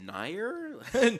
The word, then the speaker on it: Nier: I heard Near Automata. It is Nier Automata. Oh yeah, Okay, yeah. I thought you were talking about the Nier. I was like, did you say Nier?